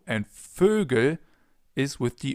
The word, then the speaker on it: Vögel: It appears pretty often in the plural forms of different words, like Vögel, birds. Try to pronounce an O, so the German version of an O, and then round your lips.